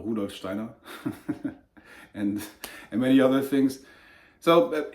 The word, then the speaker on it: Rudolf Steiner: Rudolf Steiner, as he's pronounced in German, Rudolf Steiner, and many other things.